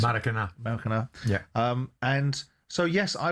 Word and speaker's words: Maracanã: How do I pronounce it? Maracanã.